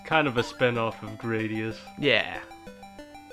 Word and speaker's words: Gradius: of a spinoff of gradius yeah we're Gladius is they kind of pronounce it in Japan so this game um